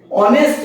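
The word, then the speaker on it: honest: বসেছে এ বসেছে কিন্তু অনেস্ট ম্যান এই অনেস্ট ঠিক আছে ও থেকে শুরু হচ্ছে অনেস্ট ম্যান তাহলে এখানে কি শুরু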